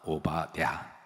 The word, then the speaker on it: 오바댜: 아, 이게 이제 히브리 원어의 발음하고 우리하고 달라서 그렇기도 한데요.